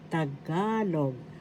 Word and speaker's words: Tagalog: bintana in English window tagalog word penggan penggan first syllable ping syllable g the accent is in the second syllable so we say thisagalogan